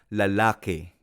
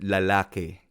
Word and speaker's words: lalaki: En Filipino, la palabra lalaki también se pronuncia lalaki. lalaki. Hay algunas palabras en Filipino que termina en i, pero cuando pronunciamos se convierte en el sonido e. Por ejemplo, lalaki a veces se convierte en lalake, lalake.